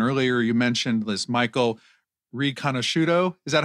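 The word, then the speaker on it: Riconosciuto: digital surveillance and earlier you mentioned this Michael ranoso is that how you pronounce his name yes yeah ranoso yes this childhood genius this uh this this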